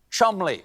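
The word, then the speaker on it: Cholmondeley: is say it with me the maress of Chand what a beautiful name that I'm being told right now that I pronounced incorrectly it is in fact pronounced Chum Counterpoint no it's not learn English England now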